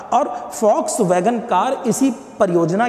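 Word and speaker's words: Volkswagen: आपने देखा होगा कार के ऊपर ऐसे 2 W बने होते हैं, है ना, तो वो फॉक्स वैगन के नाम से उसका उच्चारण फा करके निकलता है, फॉक्स वैगन।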